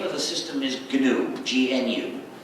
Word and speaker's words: GNU: The word GNU, the name of this animal, is used in countless word plays because according to the dictionary, the G is silent and it's pronounced new.